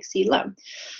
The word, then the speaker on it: coelom: That's how it's spelled, but say it like coelom.